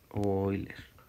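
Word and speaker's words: Euler: número de hoy leer de este señor hoy así se pronuncia si me dijeron entonces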